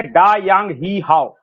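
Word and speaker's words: Da Yang Yi Hao: जहाज का नाम है डा यांग ही हाउ स्पेलिंग है डी ए डा वाई ए एन जी यांग वाई आई ई और एच ए ओ हाव ये इसका नाम है।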